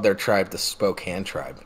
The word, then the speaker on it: Spokane: stop you right there it's pronounced Spokane I'm gonna stop you